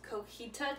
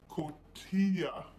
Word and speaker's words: cotija: For the longest time, I thought that it was actually pronounced cojita cheese, but it's actually cotija cheese.